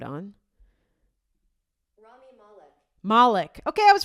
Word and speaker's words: Malek: Let's see how they pronounce it. I'm going to put this sound on. Malek.